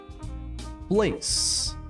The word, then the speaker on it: place: português significa parte part Place note também o e não pronunciado place Place significa lugar